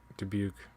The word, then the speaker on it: Dubuque: it riverside davenport how do you say that dubuque yeah dubuque okay riverside how many times would the phrase